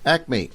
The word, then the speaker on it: ACMA: Let me spell it out. ACMA Acme, who, just in case you hadn't yet heard,